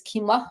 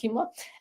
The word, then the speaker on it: quinoa: One grain that I like a lot is quinoa or quinoa, depending on how you pronounce it. I pronounce it quinoa.